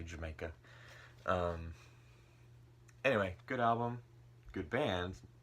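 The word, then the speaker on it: D'yer Mak'er: that I've heard like a Dyer maker and things like that I think I've read something about it's supposed to be like with a British accent he say Jamaica anyway good album good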